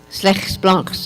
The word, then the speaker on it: Slegs blankes: was this writing, which, if you pronounce it phonetically, says slegs blanks, slegs blanks, if you speak Afrikaans.